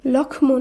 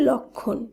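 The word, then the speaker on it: লক্ষ্মণ: লক্ষণ শব্দটিকে আমরা কিন্তু লক্ষমন এভাবে উচ্চারণ করছি না শব্দটির শুদ্ধ উচ্চারণ হবে লক্ষণ একইভাবে লক্ষ্মী নয় শব্দটির শুদ্ধ উচ্চারণ হবে লক্ষ্মী অর্থাৎ উচ্চারিত শুদ্ধ শব্দে ম ফলা বিলুপ্ত হচ্ছে এবং সেই ম ফলা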